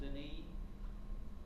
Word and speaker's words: Denis: That was the church that Abbot Suger, spelled like sugar, with an E, and Saint Denis, spelled like Dennis with one N, but pronounced Denis.